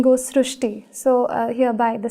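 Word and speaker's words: Srushti: We have heard of Srishti, but this is a very unique name, Srishti. So in Marathi, the word Ri is pronounced as Ru. So that is why the pronunciation goes Srishti.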